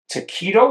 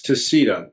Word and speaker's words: TaCito: TaCito. Is that how you pronounce it? No, it's TaCito, TaCito.